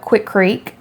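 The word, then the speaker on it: Quikrete: Um we picked up Quickcrete. I think that's how you say it, Quickcrete. Quickcrete, yes.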